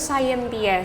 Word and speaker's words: Scientia: Harusnya pronounce-nya tuh Scientia sih. Scientia.